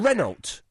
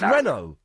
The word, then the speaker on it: Renault: Renult. They say the They say the T, but it's French. So you wouldn't say the team Reynold, it's Renault.